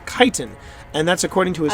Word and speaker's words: chitin: chitin o is kaiten kaiten it's not it's pronounced chitin and that's according to his high school high